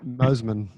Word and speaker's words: Mosman: know mosman it is basically a retirement village mosman okay sorry yeah that's how you pronounce it there you go um you know